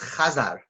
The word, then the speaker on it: Khazar: who were these karit and that's how it's pronounced Kazar they actually have a sea named after them